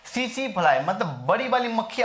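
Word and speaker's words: tsetse: इसमें कई बार पूछा जा सकता है इसके बारे में, तो सीसी टीएसआई, ठीक है, टी साइलेंट होता है, सीसी फ्लाई किसके वजह से होता है, सीसी फ्लाई के काटने से होता है।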